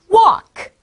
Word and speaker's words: walk: 자, 세 번째 단어는 walk.